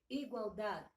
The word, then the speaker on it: igualdad: Só que o D final é mudo. Igualdade.